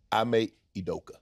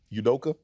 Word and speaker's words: Ime Udoka: say his full name I make edoka oh really yudoka yeah I'm a udoka don't make me make